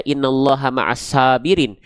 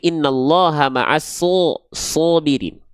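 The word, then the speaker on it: إِنَّ ٱللَّهَ مَعَ ٱلصَّابِرِينَ: Ketika huruf shad berharakat baris atas, kita enggak baca innallaha maasirin, tapi innallaha maas shobirin. Kenapa? Karena shad termasuk ke dalam huruf yang karakter pelafalannya adalah tebal.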